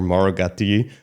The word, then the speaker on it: Mauro Gatti: So, in Europe, we can roll it.